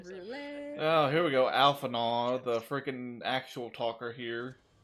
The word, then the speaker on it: Alphinaud: Alphanaw, the freaking actual talker here. Oh, yeah. Alphano. Yeah, Actually, Alphinaud, it's better to he ask.